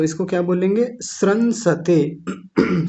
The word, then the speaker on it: श्रंसते: यह खूब आता है तो इसको क्या बोलेंगे श्रंसते श्रमसते ऐसा भी बोल सकते हैं।